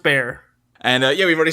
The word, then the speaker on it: Bexar: Uh it's spelled uh Ursula and then Bear is spelled b e x a r. But pronounced Bear.